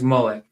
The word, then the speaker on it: Moloch: Right, so it says Moloch, sometimes pronounced as Moloch, is a name that